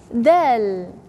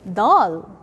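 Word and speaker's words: د: Dal. Never ever say dal. Have to say dal. Soft.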